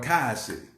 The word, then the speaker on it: Collier City: And, you know, and Collier City, okay? I know they call it Kai City, okay? That's not the way it's spelled, but it's all good.